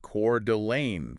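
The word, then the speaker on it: Coeur d'Alene: And today uh we're looking north specifically at Cordelane Idaho. That's right. And it's pronounced Cord Delane for anyone wondering.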